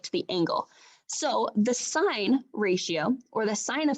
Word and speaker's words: sine: between the angle and the sides are called sine cosine and tangent now they're abbreviated this way